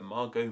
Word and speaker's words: Margot: still probably said in words like Margo might have even been said as Margot and you other examples